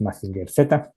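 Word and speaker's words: Mazinger Z: I don't know the correct pronunciation in English. In Spanish, it's Massinger Z, Massinger C in English, maybe.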